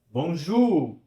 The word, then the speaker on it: bonjour: Bonjour. É o som da letra U, da nossa letra U, né?